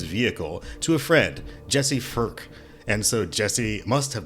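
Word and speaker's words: Phurk: Spell it. P-H-U-R-K. Firk.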